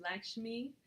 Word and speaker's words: Lakshmi: Now I can never say her name right, but it's Lakshmi, and she represents abundance.